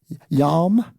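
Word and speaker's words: ים: The reason why it's called the reed sea is because in the Hebrew they pronounce it yam yam which means really means large body of water.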